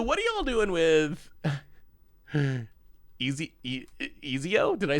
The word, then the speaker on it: Ezio: Etsio. It's like the craft site, right? Where you can sell your things with an O at the end.